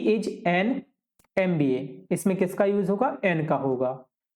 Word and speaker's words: MBA: अब MBA जो शब्द है ना, देखो वो देखने में तो कैसा लग रहा है कि व्यंजन से शुरू हो रहा है, व्यंजन से शुरू हो ही रहा है। ठीक है, शुरू तो वो व्यंजन से हो रहा है, लेकिन इसको पढ़ते क्या है? इसको पढ़ते हैं MBA, master of business administrative